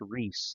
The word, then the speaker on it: Rees: You spell it R-E-E-S, but it's pronounced Reese, like Angel Reese.